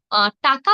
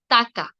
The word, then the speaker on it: টাকা: ব্যাচে যুক্ত হন তো মূর্ধা ধ্বনি উচ্চারণ করতে গিয়ে অনেক সময় দ্বন্দ ধ্বনির মত উচ্চারণ হয়ে যায় যার কারণে দেখবেন টাকা বলতে গিয়ে শব্দ হয়ে যায় তাকা আমার বান্ধবীরাও দেখতাম বলতো যে পাঁচ তাকা ছয় তাকা তো এই যে তাকা বলার যে প্রবণতা এটি হয় মূলত এই যে ধ্বনির উচ্চারণ স্থানের ভুলের কারণে এটি একটু লক্ষ্য করবেন